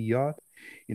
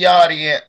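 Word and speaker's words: Yarde: What's gonna happen with Anthony Yardy? My bad. You know I'm from America, so I'm gonna pronounce it wrong. Anthony Yardy and motherfucking Kovalev. He gonna whoop Kovalev ass. Nigga, the E's silent, dog.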